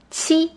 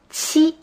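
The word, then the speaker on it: 去: fourth song is pronounced chi this is a combination of a t and a ch sound chi this is similar to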